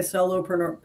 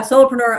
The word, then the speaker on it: solopreneur: I don't like, you know, I I don't like being a soloreneur. Am I saying it wrong? A soloreneur. I um yeah, solopreneur.